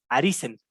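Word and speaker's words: arisen: ejemplo el pasado participio otras veces como arise pero con n aris en correcta pronunciación a risen y por ejemplo aquí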